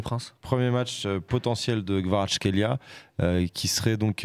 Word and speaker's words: Kvaratskhelia: Comme ça, 2,15, le but de Khvisha Kvaratskhelia. Comme ça que ça doit se prononcer.